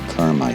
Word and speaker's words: Carmi: On numerous occasions, I have mispronounced the name of the state park where we stayed. It's pronounced Lake Carmi State Park.